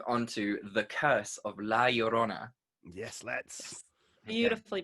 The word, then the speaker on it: La Llorona: Well, you just from now on when we say La Llorona, you have to really roll your R's.